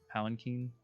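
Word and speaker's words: palanquin: like a massive glitter like um we've it's pronounced palanchin yeah um just this bigger than anything you've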